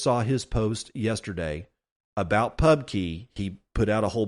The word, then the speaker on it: Pubky: carvallo's Pub KY core it's probably pronounced Pub Key but it is not actually spelled that way it's spelled p u